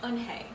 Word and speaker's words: Unhei: she nodded slowly yes it's pronounced unhei and it means grace mr kim added hey